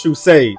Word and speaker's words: True Sage: It is True Sage, and of course, as always, it is pronounced True Sage.